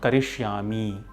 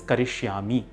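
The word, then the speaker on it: करिष्यामि: In the second line too, it is not Karishyami, it is Karishyami, which is a verb form.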